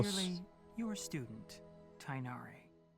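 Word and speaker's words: Tighnari: Clearly your student Tinari. Oh my god, I said his name so wrong. Tinari. He never said his name before. Tinari. Tinari. Okay, that's how you say it. I said Tiganari.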